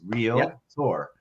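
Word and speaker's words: Realtor: tour uh but it's so funny when you listen to a real tour say it incorrectly it just cracks me up uh so I'm glad you brought that up I'm glad you tour two syllables real Tor uh so wal I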